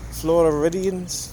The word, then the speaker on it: Floridians: Floridians, that's how you say it.